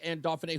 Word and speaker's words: Anne Dauphinais: I finally learned how to pronounce her name. Uh Representative Anne Duffany who is the ranking member on the legislaturator's committee on children.